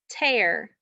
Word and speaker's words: tear: tear in my pants how many syllables are in the word tear there's one syllable it's hair there's only one vowel